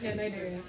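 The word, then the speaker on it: Cnidaria: Nidaria. You do not pronounce the name.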